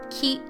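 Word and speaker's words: き: but just know that they are both pronounced key so in your worksheets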